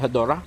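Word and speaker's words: Hedorah: Some people also pronounce it Hedora. You know, it's, I guess, depending on whether you grew up with the English dub or whether you grew up with the Japanese version.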